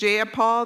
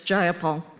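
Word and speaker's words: Jayapal: you agree with Miss ja Paul that there was no takeover is just jaul if you're going to say my name please say it right it's jaia Paul jaia Paul you would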